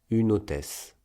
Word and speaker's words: une hôtesse: Par exemple, dans une hôtesse, la consonne finale de une est n et la voyelle initiale de hôtesse est o. Donc, on lit le ne au o, no, et on prononce une hôtesse.